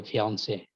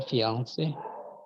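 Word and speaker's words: fiancée: But when you pronounce them if you pronounce them in an English sentence, you'd pronounce them more with an American accent. So you'd say like fiance.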